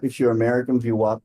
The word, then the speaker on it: VWAP: VWAP if you're American, VWAP if you're British.